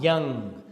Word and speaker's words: Jung: given by our psychologist whose name is Carl Young the spelling is j u n g but the SP the pronunciation is Carl Jung okay now he belonged